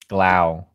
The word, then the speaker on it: Glau: There you go. Glau. Glau. Like glamour. Okay.